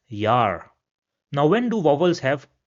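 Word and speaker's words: Jahr: So we will pronounce it as Yar.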